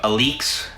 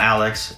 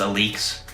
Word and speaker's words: Alyx: don't know matthew williams is the co-founder of aleks that is how you pronounce it it's not alex it's a leaks he's also the creative director for javanchi or